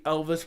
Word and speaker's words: Elves: you're not my brother when you pronounce elves brener like fantasy creature with a straight face it got me you know his name's actually Elvis brener and I always say elves brener Jamal allowing people to